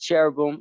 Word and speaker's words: cherubim: angel kind of angelic it's you got it's pronounced cherubim and seraphim bro yup yup yup just to